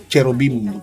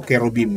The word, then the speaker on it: Cherubim: yung sa dihado ko si cherubim cherubim o kerubim yan yan ang tamang pronunciation yyan so Kayo pa